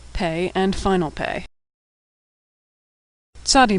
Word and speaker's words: Tzadi: Tzadi makes a TS sound like at the end of the word pants or nuts. Tzadi has a special final form, tzadi, and final tzadi.